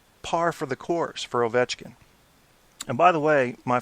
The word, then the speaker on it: Ovechkin: Ovechkin. So if you want to impress OV or your friends, the next time you say Ovechkin's name, say Alexander Ovechkin. That's how they say it in Russia.